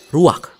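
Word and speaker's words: רוּחַ: Kata dalam bahasa Ibraninya adalah ruach. Ruak? Ya, benar. Tenggorokan kita harus benar-benar bersih di akhir pengucapan.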